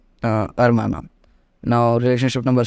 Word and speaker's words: hermana: Okay, with the same first rule, hermana.